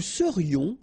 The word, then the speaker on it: serions: Nous serions, final S not pronounced.